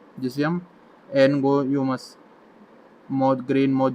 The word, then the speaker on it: Angoumois: इसके अलावा एक मॉथ होता है जिसे हम एनगोयोमस मॉथ, ग्रेन मॉथ जो है उस वो बोलते हैं। ये स्पेलिंग ध्यान रखना, ANGOUMOIS, एनगोयोमस ग्रेन मॉथ।